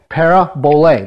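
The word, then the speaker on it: παραβολή: Para, prefix, bole. Okay? Para, bole. That's how it's said in Greek. Okay? We don't say it that way in America, but that's how it's actually pronounced. Parabole. That's how you say it.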